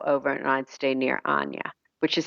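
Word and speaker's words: Chania: and I'd stay near Ana which is spelled like Chia but it's pronounced with no C so it's c h ni I now we heard that called Hana yes spelled it it's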